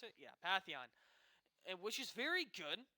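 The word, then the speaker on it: Pantheon: me and it looks like SSC is going Patheon that's how you pronounce it yeah Patheon and which is very good he's also very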